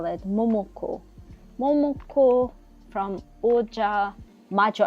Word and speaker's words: Ojamajo: Momoko from Oja Majo. I always say Oja Moja, but it's Oja Majo. I don't know why I want to say Oja Moja.